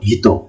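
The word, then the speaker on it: ひと: প্রথম যে কাঞ্জি এটাকে হলো হিতো, হিতোর কাঞ্জি।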